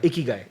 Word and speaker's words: Ikigai: Japanese, am I pronouncing it right? Omakase, yes. And it's a Ikigai? Yeah. Ikigai.